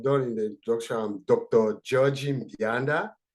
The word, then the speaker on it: Mbianda: in the introduction dr mianda so then bianda most of whom people have difficulty you can just uh have the m silent it will be easy to pronounce uh and i'm a